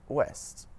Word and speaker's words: ouest: OU at the start of the syllable makes a W sound, just like in the words woman and West. Some French examples of this are oui and ouest.